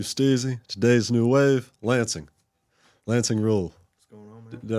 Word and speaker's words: Lancing Ruel: Lancing rule. What's going on, man? Did I pronounce it right?